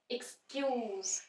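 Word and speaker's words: excuse: रहा है explain explain next is एक्सक्यूज एक्स एक्स से नहीं स्टार्ट हो रहा य भी ई से स्टार्ट हो रहा है एक्सक्यूज स पे स्ट्रेस आ रहा है इ क स क य उ लंग उ स ज नहीं आ रहा यहां प ये ध्यान रखना है ये वर्ड जब एज अ वर्ब यूज होता है तो ज य जैसे एक्सक्यूज एक्सक्यूज मी लेकिन जब ये word as a noun यूज होगा तो स साउंड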